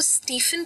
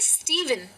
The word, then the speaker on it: Stephen: लिखा हुआ है STEPHEN, क्या आप इसको स्टीफन कहते हैं? अगर हाँ तो ये प्रोनाउंसिएशन गलत है। ये लिखा जरूर PH है, लेकिन इसे कहा जाता है स्टीवन। तो ये जो PH है ये भी V का साउंड ले लेता है।